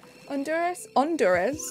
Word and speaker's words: Honduras: Honduras, there we go. Silent H.